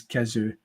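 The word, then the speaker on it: Cazaux: that guy Kazo um and trust me I did go into the ATP uh soundboard from the website want to make sure I would say his name right and it is kizu um so I will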